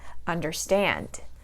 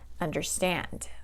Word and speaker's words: understand: So we're going to stress the second part, understand, okay? I understand. I don't say I understand, I say I understand, okay?